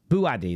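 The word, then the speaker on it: Bouaddi: I want to make sure I'm pronouncing this right. Is it? I'll Google translated this here. Eyal Buadi. Buadi, that's it.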